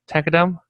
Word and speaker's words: tqdm: a tqdm it's uh the creator of tkdm pronounce it takadam that means progress it